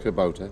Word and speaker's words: Kubota: If I've pronounced it, is it Kubota? It's pronounced Kubota.